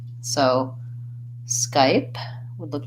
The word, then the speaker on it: Skype: those different contacts so Skype has the SK blend at the beginning and then the the letter Y says I just like this though the pronoun I or the letter I it's a diphthong that